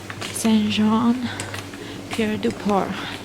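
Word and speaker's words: Saint-Jean-Pied-de-Port: is probably like 65° fahit and we're in s John Pi dupor this is the right way to pronounce the name of this beautiful city or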